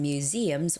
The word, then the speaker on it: museum: And one of them was a lot of Koreans get this wrong, museum, all right? Museum. It's with that z z z museum sound, okay?